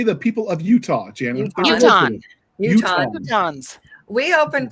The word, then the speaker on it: Utahns: Utahns.